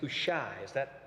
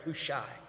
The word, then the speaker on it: Hushai: His name is Hushai. That's correct, Hushai.